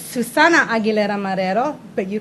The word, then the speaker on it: Aguilera-Marrero: Well, first of all, it's Suzanna Aguilera-Marrero, but you call me.